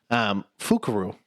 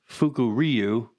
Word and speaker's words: Fukuryu: which this one I had to kind of pronounce before we started this, but Fukuryu is Fukuryu.